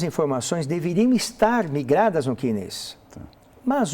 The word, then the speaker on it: CNIS: Se escreve S-N-I-S, C-N-I-S, mas se fala CNIS.